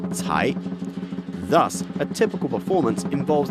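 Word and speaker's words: 财: The Chinese word cai, to pluck, sounds like the word for wealth, also pronounced cai.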